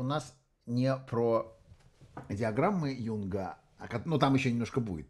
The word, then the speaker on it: Юнг: картинкам сечас это называется Юнга как вообще правильно говорить диаграмма Юнга или диаграмма Янга Ну по-русски диаграммы Юнга так же как закон Ньютона Хотя он его зовут